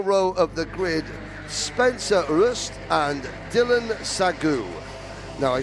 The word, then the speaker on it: Rust: you know, Devian uh says it's it's Roy, you know, and uh Spencer's dad said, "Oh, well, actually, you know, uh we say it's rust, so it's rust." Uh Spencer Rust is the correct pronunciation of that name.